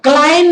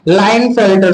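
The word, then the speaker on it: Klinefelter: क्लाइन नहीं, लाइन, के silent है। ठीक है, मेरे टंग में पहले क्लाइन आता था तो मैं क्लाइन पढ़ता था, लेकिन एग्जैक्टली लाइन फिल्टर सिंड्रोम है।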